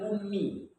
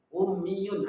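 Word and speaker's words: أميون: begitu itulah disebut dengan ummi ummi itu bermakna la yaqra wala yaktub umiyun umiyun bukan Ummi kalau Umi kan Ibu saya jadinya ummiyun ada tasdidnya ummiyun itu bermakna la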